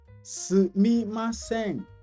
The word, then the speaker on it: sumimasen: Sumimasen. Sumimasen. Again, SU is pronounced S, like I said. S. See my mouth, not su.